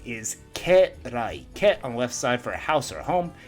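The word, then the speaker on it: 家来: Ke is kind of an awkward pronunciation. Usually it's ka for this kanji. At least in the words we've learned so far.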